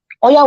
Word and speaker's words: Oya: Oya will be called Oya.